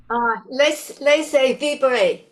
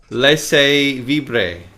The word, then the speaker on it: laissez vibrer: How do we say this? Are you able to pronounce that? Laissez vibrer. Laissez vibrer.